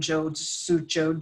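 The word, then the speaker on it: Zhou: Shanghai working when Johan Jojo Jojo and and all the cities that start with Z are the end and zho you are pronounced Jo and it means River and so there's so many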